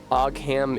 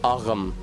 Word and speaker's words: Ogham: Ogham isn't pronounced Ogham or Oham? No, I don't think it is. From how it's spelled, without context, I would have assumed Ogham, but it's Ogham. It's fucking Irish.